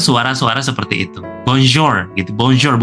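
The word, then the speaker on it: bonjour: Bonjor bukan bonzor bukan seperti itu ya, tapi ja.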